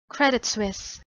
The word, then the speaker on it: Credit Suisse: mired in scandal a regular topic of discussion credit suisse so credit suisse just this year 2021 i've